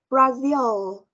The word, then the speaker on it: Brazil: răng trên x ờ Ờ đúng rồi so Brazil Brazil Brazil Ok Can you repeat Ok đúng